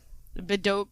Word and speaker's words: Bedok: brain lied to me Boke right yeah yeah bedok Reservoir so yeah that Reservoir had a Spate